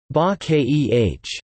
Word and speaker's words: 化け: The word is composed of wen zi, moji, IPA, mod, I, character, and wa ke, bake, IPA, bake, pronounced ba keh, transform.